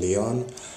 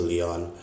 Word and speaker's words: Lyon: Hi everyone, Muna here, blogging from Lyon. This is, oh sorry, Lyon, I'm supposed to pronounce it properly.